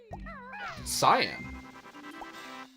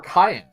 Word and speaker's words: cyan: red purple red yellow cyan or Cayenne as some people mistakenly pronounce I don't know